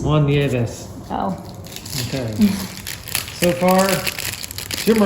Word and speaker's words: Nieves: Carmelo Martinez, Bryn Smith, and Juan Neves. Juan Nieves.